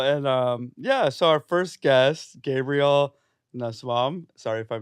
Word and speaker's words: Gabriel Nussbaum: Hi, I'm Gabriel Nussbaum. That's how you pronounce it, Cruz.